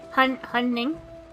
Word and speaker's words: Hunning: Oh, Hungning. You don't pronounce the G. Oh, you don't pronounce the G? No. Hunning? Yeah.